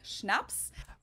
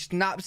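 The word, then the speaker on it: Schnaps: alcohol culture in German we spell it like this and say schnapps always snaps a type of drink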